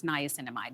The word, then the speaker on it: niacinamide: of all time is niacinamide so I know we hear a lot about right now that's how you say it nice and mine as opposed to retinol